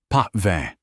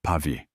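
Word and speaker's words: Pavie: "A Bordeaux, perhaps the uh chateau pve." He horribly mispronounced Pavi.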